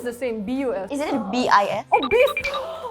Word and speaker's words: bis: Is it B-I-S. Oh, bis! Formal Indonesian, like the proper Indonesian is bis, B-I-S. But I think Like in daily conversations, you would pronounce it as bus.